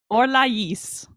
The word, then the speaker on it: Orlais: They don't say Orlais when they're speaking French. What do they say? Orlais, and they pronounce the S. What? Don't know why. What? They have an accent over the I to make sure you pronounce the S at the end. Orlais.